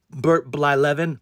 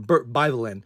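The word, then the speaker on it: Blyleven: His name is Bert Blylevin. But when I was a kid and I got his baseball card, I would just call him Bert Byvelin. Because I couldn't pronounce it.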